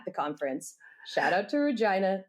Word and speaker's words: Regina: Shout out to Regina, the city that rhymes with fun.